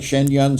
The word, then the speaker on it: Shenyang: Thorson Trey, are involved with the Shen, I say it right, Shenyang Symphony Orchestra?